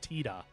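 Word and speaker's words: Tidus: It's not even pronounced Titus in Japanese. It's pronounced Tida in Japanese.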